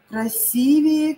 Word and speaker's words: красивее: Красивее, красивее. Правильно вы говорите, что нужно поставить ударение на И.